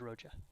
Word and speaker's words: Rocha: that um scott galicia had his name wrong for six months and finally said okay my real name is rocha rocha so we apologize